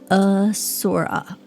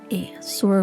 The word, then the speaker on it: Asura: In Guild Wars 2, this race is officially pronounced Asura. Asura. Uh like about. Well, that's not uh A Asura. Asura? Asura. Asura rhymes with pure.